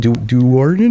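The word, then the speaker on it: Do'Urden: Darden. Darden.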